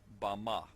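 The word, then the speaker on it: במה: in the Strong's Hebrew Dictionary, and it is pronounced Bama.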